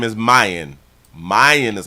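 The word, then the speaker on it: Myon: Stillwater prison and so his name is Mayan Mayan is how they pronounce it Mayan Burell who walked out of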